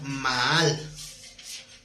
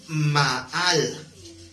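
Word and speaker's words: מעל: La palabra excelencia en hebreo es la palabra Maal. Qué curioso, ¿no? En español se oye mal. La palabra es Maal, con acento en la segunda A.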